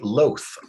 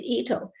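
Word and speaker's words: Itoh: So Sandy, is the loath a lot better than the standard herbaceous peony? That's Ito, I think, not loath. Oh, Ito. I'm terribly sorry. L-O-T-H is the way it's spelled? I-T-O-H. Ito.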